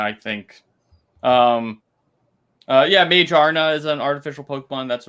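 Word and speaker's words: Magearna: good point or uh mcgear no excuse me god i we have gotten yelled at about you know mispronouncing that pokemon before and i still say it wrong and i have to correct myself every time uh yeah magirna is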